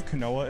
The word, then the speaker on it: quinoa: You know where the quinoa is? Try again? Quinoa. Oh, it's pronounced quinoa.